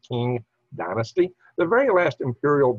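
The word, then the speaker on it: Qing: you see in 1912 the uh republic of china overthrew the key you know is spelled uh q-i-n-g-i so it's pronounced king dynasty the very last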